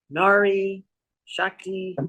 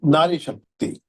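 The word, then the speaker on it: नारी शक्ति: You could pronounce that for me. Nari Shakti. Nari Shakti.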